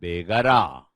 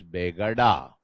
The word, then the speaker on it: Begada: You also call him Muhammad Begara. In some textbooks, it is written as Begada, B-E-G-A-D-A. Either way, you can write it. It's problem of pronunciation, either Begara or Begada.